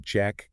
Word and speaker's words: JAK: We're doing a deep dive into a specific class of medications called Jack Kynise inhibitors. That's J A K, right? J AK, but uh it's pronounced Jack.